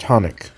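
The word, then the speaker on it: חנוך: In Hebrew, Enoch is pronounced Hanukkah, and it's from the word Hanukkah.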